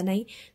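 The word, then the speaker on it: knee: खालीलपैकी हाताचा भाग कोणता के एन डबल इनी म्हणजे गुडघा इथे के सायलेंट असतो नी गुडघा एन इस सी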